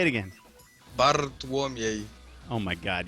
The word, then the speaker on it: Bartłomiej: Bartolome. Did I get it? Yeah, but nearly close. Say it again. Bartłomiej. Oh my God! You got to roll the R, and then there's just weird syllables after that.